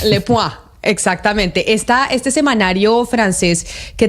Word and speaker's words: Le Point: Usted que es el que habla francés aquí, Le Point, ¿se pronunciaría? Muy bien, sí, Le Point. Le Point.